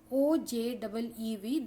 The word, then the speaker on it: ogive: The pronunciation for this is OJEEV, that is ogive, as it is derived from the word OG.